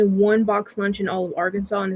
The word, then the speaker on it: Arkansas: it was actually against the law to say Arkansas because everyone was pronouncing it that way they're like no it's Arkansas but if you're talking about the citizens of